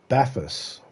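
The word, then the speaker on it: Bathurst: It's pronounced Baffus 1000.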